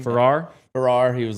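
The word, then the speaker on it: Farrar: Ferrar Ferrar.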